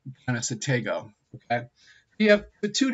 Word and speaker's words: Conestoga: It's actually pronounced Conestoga.